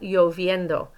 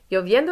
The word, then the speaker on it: lloviendo: And then here, está lloviendo. It's raining. Lloviendo is a little bit tricky. Those double L's, remember, make a y sound.